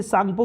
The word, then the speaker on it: Tsangpo: Indus सांगपो, देखिए सांगपो की spelling T है, साइलेंट है, मैं लिख दे रहा हूँ स्पेलिंग, आप थोड़ा ध्यान दीजिएगा।